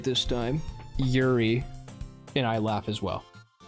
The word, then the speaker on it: Yuri: Yuri.